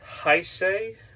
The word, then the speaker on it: Heisei: set of gamera and then getting into the heisei era that's how you say it i say